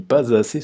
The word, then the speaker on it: pas assez: Donc le S se prononce comme un Z. Je ne lis pas assez souvent à mon goût.